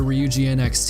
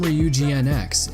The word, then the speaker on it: Ryujinx: The name REE-YOU-JI-NX is based on the name Ryujin or Ryujin.